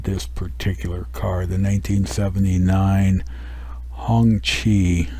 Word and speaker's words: Hongqi: The 1979 Hongqi, it's pronounced, model CA770 limousine.